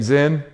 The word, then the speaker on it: Zin: Or they think it's Zen, Z-E-N, right?